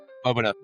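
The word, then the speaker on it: Boveda: Yeah, if you haven't noticed yet, folks, we kind of picked up a sponsor, Bovita or Bovida. Bovida. which Bovida. We've been taught that is the correct pronunciation, not by Bovida, but by Carlos Fuente.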